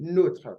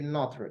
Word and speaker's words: nôtre: It has the sign that we call accent circumflex, like a cap on the head. So there is accent circumflex on it. All right, that's why we are pronouncing notre. We didn't say notre. If you say notre, then you're talking about an adjective.